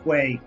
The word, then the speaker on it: quay: It's pronounced Quay.